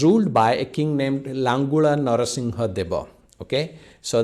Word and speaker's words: Langula Narasimha Deva: by a king named langula narasimha deva okay so that's how we pronounce it in odia langula narasimhadeva and he